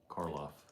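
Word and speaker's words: Karloff: Caroff Caroff Frankenstein and the Mummy.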